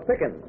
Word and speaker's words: Pickin: this is miss lola pickin rhymes with chicken or a scream i